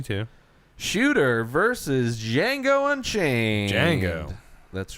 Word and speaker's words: Django: shooter versus django unchained django that's right the d is silent da django down periscope which watched